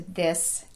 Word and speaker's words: this: The word this is spelled with an I, which is a problem because in most languages the letter I is pronounced E. Because of this, many of my students see that letter I and immediately default to that E tongue position, which is too high in the mouth.